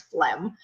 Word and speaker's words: phlegm: Okay, so phlegm is the yellow thing in your throat when you get sick, and sometimes when you cough, there's phlegm. Okay, the pronunciation, it's pronounced like this, phlegm, okay?